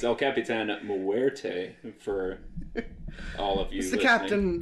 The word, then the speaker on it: El Capitan: ho ho and uh El capan which is not how you pronounce that it's El Capitan mte for all of